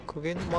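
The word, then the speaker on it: 鵠沼: でもあれでクゲ沼って読むの？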